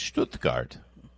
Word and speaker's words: Stuttgart: We're going to talk all things Stuttgart. That's coming up. Why you laugh when I say Stuttgart? That's the correct. I'm saying it right.